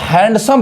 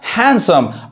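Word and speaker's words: handsome: यहां जैसे एग्जांपल देखिए यहां पे जो डी है वो साइलेंट है यानी इसको हैंडसम बहुत लोग गलत पढ़ते हैं ये क्या पढ़ेगा हैंडसम यानी डी यहां पे चुप है साइलेंट है नहीं पढ़ाए समझ में आ रहा है तो ये क्या पढ़ाए हैंडसम अब इस वर्ड में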